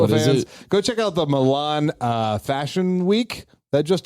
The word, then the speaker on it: Milan: that just took place spelled like the Disney character Yes except there's no there's an eye instead of the U because it's an Italian city called Milan it's not Mulan Mulan Fashion Week Mulan